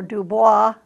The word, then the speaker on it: Dubois: the Hyuga knows the Dubois or Dubois which is the French pronunciation simply means of the